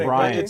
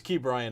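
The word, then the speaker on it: Ke'Bryan: Well, Chip was saying his first name wrong. I think. Cabrian. It's Key Brian Hayes. That's how you pronounce it. He was calling it Cabrian.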